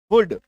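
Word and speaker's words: hood: plus D देखने को मिले तो भी उसके उच्चारण में क्या आएगा उकार की मात्रा जैसे कि हुड T double O डी गुड H double O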